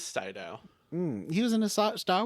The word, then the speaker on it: Sydow: a star wars sydow is it pronounced saidao it is cyto he was in a